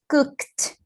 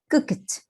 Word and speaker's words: cooked: Nesse caso aqui, esse ED vai ter som de T, porque ele está depois da letra K.